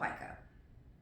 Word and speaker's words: pica: I'm pretty sure it's called pica. That's how you pronounce it.